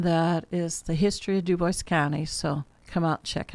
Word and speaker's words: Dubois: Germans when they came in the 1850s did pronounced it French and became Duboce. We have uh the German migration into Duboce County.